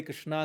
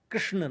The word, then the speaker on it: कृष्ण: कृष्णा जो वर्ड है वो कृष्ण नहीं है। अच्छा हम जिसके लिए जप रहे हैं वो श्री कृष्ण है। तो सही उच्चारण क्या है इस मंत्र का? कृष्ण कृष्ण कृष्ण कृष्णा नहीं और हमने बोल दिया